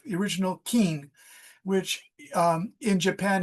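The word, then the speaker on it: Kinh: really fascin So it's it's pronounced as like king king.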